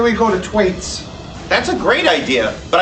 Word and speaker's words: Thwaites: And you can take that pronunciation to the bank. It's Thwaites.